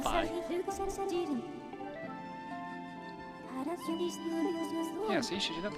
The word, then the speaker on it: Fi: I used to say Phi like a Greek letter, but then in Hyrule Warriors they pronounce her name Phi.